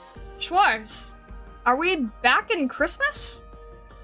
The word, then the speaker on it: Schwarz: Schwars, are we back in Christmas? Is it Is it schwars? Is that how you pronounce it? Schwarz.